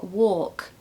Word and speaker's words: walk: uh walk and talk I hear people saying walk and talk and actually it's more walk talk okay so no l number